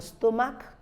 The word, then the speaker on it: stomach: in the spelling but the H is not pronounced we have the stomach stomach is a word a part of the